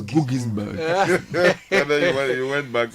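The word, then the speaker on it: Guggisberg: I'm told it's pronounced Gugisberg.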